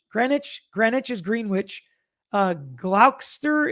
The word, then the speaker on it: Gloucester: Uh, Glsterster is Gloucester.